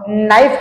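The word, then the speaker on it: knife: ला समजत नाही उदाहरणार्थ आपण नाईफ हा शब्द लिहितो आणि नाईफ या शब्दामधलं के हे लेटर सायलेंट होत आणि आपण नाईफ अस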